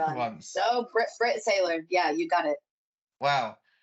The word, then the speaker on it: Saylor: I've probably butchered the name for once. So Britt Saylor, yeah, you got it.